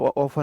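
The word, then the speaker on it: often: ऑफ ऑफन में T silent है।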